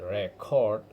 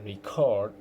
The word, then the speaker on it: record: Very common example is record. If I say record with the stress on the first syllable, I mean a document or piece of music. But if I say record the stress on the second syllable, I'm using it as the verb meaning to record something.